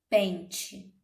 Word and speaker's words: pente: Pensem, por exemplo, em pente. Pente, nós sabemos que escrevemos, né? P-E-N-T-E. Mas quando falamos, fica P-E-N-T-I. O som, o fonema que pronunciamos, né? É o som do I, certo?